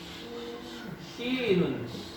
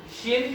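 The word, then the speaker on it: شين: Shin juga aman, cuman kebanyakan orang salah ini aja, mulutnya apa maju sha gitu ya. Tapi enggak sha. Kemudian rokoah, ingat ya sama rokoahnya. Berarti benar ya, kalau misalkan pengucapan shin itu gigi harus menutup biar mulut nggak ikut ada kontribusinya di sini. Enggak ada ketentuan. Maksudnya cara untuk membunyikan shin biar nggak maju.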